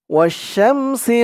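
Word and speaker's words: وَالشَّمْسِ: ওয়াও শিন জবর wash, শিন দিয়ে মিম ধরবে, শিন মিম জবর শাম। ওয়াশ-শাম, সিন জের সি।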